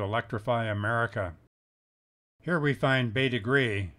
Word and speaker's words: Bete Grise: america here we find bay degree as the locals pronounce it another example of former